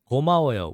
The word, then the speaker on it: 고마워요: The next one we have here, 고마워요, which is 고, 마, 워, 요. 고, 마, 워, 요. 고, 마, So again, a little faster, that's 고마워요. 고마워요.